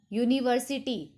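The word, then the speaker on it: university: For example हम बात करते हैं यूनिवर्सिटी, स्पेलिंग स्टार्ट हो रही है हमारी यू से, यू एक वोवल है बट साउंड किससे प्रोड्यूस हो रहा है, कॉन्सोनेंट साउंड हो रहा है। यूनिवर्सिटी वाई का साउंड आ रहा है, इसी वजह से हम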